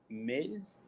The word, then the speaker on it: Miz: with an m and it rhymes with whiz miz yep the miz the